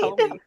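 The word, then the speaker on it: haole: Howley. That was the term I had Yeah. heard. So So I right, was like, oh, yeah, it's phonetically almost said like how o lee.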